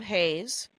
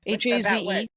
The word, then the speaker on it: Hayes: Yeah, and that was super fun, as per hosted by Rob Hayes, who is on this week's Dark Forest. Yeah, HAZE.